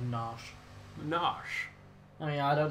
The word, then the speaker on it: Narshe: It's always pronounced that as Nash.